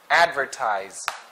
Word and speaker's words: advertise: impersonal next immortal immortal advertise advertised so for this word the stress is in the first syllable which is advertised advertised